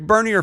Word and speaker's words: Bernier: Rick Bernier, Bernier, he corrected me one time. It's pronounced Bernier.